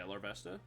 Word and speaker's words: Larvesta: so we're able to knock out the L Larvesta is that how it's said hold on let me pull that up come back yeah Larvesta thought so all right so they go Vulpix